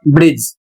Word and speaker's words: bridge: दूसरा नियम है, जब किसी शब्द में DGE एक साथ आए तो डी साइलेंट हो जाता है। उदाहरण देखिए, BRIDGE, इसको पढ़ेंगे ब्रिज।